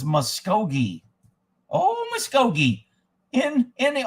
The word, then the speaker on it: Muskogee: man there's just so much conspiracy muskokane is pronounced moshko muskogee so it's muskogee oh muskogee in in the old oklahoma muskogee